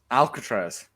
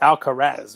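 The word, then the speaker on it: Alcaraz: his name nadal jr alcatraz okay it's not it's alka-raz right there's no t in it but yes i'll remember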